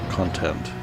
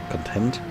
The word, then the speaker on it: content: Content, with stress on the first syllable is the noun, And content is the adjective with the stress on the second syllable.